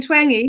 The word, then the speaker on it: Twenge: Twenge, like twangy guitar. Hi, today I'm here with Jean Twenge, who just corrected my pronunciation.